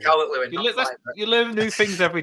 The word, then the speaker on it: Calvert-Lewin: Is it Calvert-Lewin? Calvert-Lewin. Yeah. Yeah, that's Right, Calvert-Lewin.